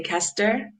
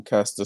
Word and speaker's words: Caster: they just said pasta if you can say michaela and you can say kester simenya right caster yeah right esther samanya she actually